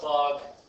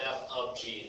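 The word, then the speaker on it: f∘g: I call it fog, pog, and goth. Not really, that's not how you say it, but fog here, f of g. This is how you pronounce it as f of g.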